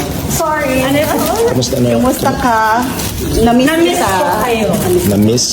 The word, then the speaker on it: Kumusta ka: So tell them how to say it properly cuz if anytime you say Tagalog here they love Kusta ka? Kumusta ka? Sorry. Anousta? Kumusta ka?